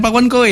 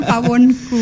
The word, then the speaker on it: Pawonkoe: Oh, jadi ini pawonku, bukan pawonkowe ya? Ya, penyebutannya pawonku, Mas. Iya. Jadi kalau saya lihat dari Instagramnya kan teman-teman, ini tulisannya pawonkowe. Saya kira kowe kamu. Ternyata itu pengejaan lama gitu Bu ya? Iya, betul pengejaan lama.